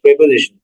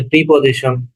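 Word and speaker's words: preposition: তো অনুসর্গ হচ্ছে ইংরেজিতে আমরা যেটাকে বলি, যেটাকে প্রেপোজিশন। ওকে, আমরা যেটাকে প্রেপোজিশন বলি সেটাকে বলা হয় অনুসর্গ। এখন কেউ কেউ বলে প্রিপোজিশন, কেউ কেউ বলে প্রেপোজিশন, আসলে প্রেপোজিশনটাই শুদ্ধ উচ্চারণ।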